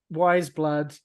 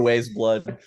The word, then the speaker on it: Weyes Blood: tracks and ratings for wise blood or as I used to call her back in 2016. I called her ways blood um that's just not how that should be pronounced yeah all right so